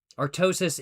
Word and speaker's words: Artosis: Artosis is in fact the correct pronunciation.